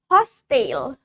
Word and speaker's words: hostile: Next, we have the word hostile.